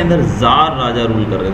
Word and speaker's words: Czar: समय रशिया के अंदर जार राजा रूल कर रहे थे। देखिए यहाँ पर स्पेलिंग दी गई है CZAR, इसको हम सीजार नहीं पढ़ते हैं, इसको जार पढ़ते हैं, सी साइलेंट रहता है।